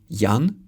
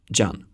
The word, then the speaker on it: Jan: Letter J stands for the yod sound. That's why we say Jan and not Jan.